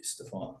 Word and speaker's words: Stephen: Stefan, and then I, for the longest time, said Stefan. And it wasn't until I got the job here that I was like, I want to try and be a little more professional and say my name the way it should be, Stefan.